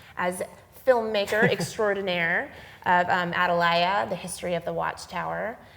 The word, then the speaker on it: Atalaya: the Watchtower um and if you're like me and you always have pronounced it adala I forgive you because I had to be corrected I've always said it like this and then I watched